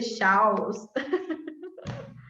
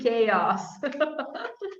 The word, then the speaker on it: chaos: you see them you tend to say shouts okay at least for brazilians when we look at this world okay it's actually chaos yeah um i don't